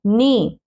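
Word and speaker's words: knee: नी, नी क्या होता है, घुटना। नी, कनी नहीं, क नी नहीं बोलेंगे हम, नी, क्योंकि के क्या है, साइलेंट है। क्यों साइलेंट है, क्योंकि एन से पहले आया है, ठीक है।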